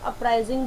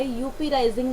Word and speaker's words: uprising: इसे आप अपराइजिंग बोलोगे, यूपी राइजिंग नहीं प्रोनाउंस होता है वर्ड, इसे प्रोनाउंस करना है अपराइजिंग.